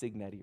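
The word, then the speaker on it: Cignetti: It's it's pronounced signetti, right? Yeah.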